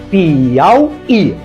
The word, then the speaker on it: Piauí: Então veja só, Piauí, Piauí. A sílaba tônica é esta, a palavra é oxítona.